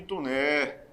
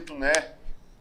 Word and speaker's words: Taunay: A figura emblemática histórica de Visconde de Tuné. A figura é o Visconde de Tuné. Visconde de Taunay. Se pronuncia Tuné, né?